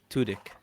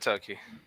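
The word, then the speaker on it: Tudyk: it yes Alan uh uh totki k2so yeah spell it for me please his last name uh t-u-d-y-k tutic tudik thank you may I said turkey Alan tudik I knew the name but you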